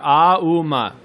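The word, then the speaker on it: ॐ: ooh ma oh oh it starts from the bottom of the throat ah and then woo in the middle of the mouth and then ma ohm like that right so it's three syllables together ah uma and there's a dot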